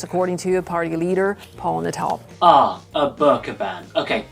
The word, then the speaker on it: Nuttall: A man named Paul Nutter. Paul Nuttall. N-U-T-T-A-L. Slip of the tongue, my apologies.